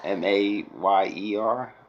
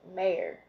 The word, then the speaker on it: Mayer: It just sounds weird when you pronounce it Mayer, Oscar Mayer. Oscar Mayer. But the AY makes the E sound in English. In English, that's why you go I, and it's AY.